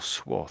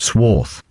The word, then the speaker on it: swathe: I think the Americans say more swath. Sworth. Yeah, Americans say swath more, I think.